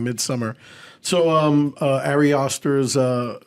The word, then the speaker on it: Midsommar: the list Midsummer midar so uh mid somar which is actual name of the film but yes we're pronouncing like americant and we're saying Midsummer so um AR aer's